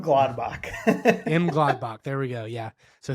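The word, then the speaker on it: Mönchengladbach: M Gladbach.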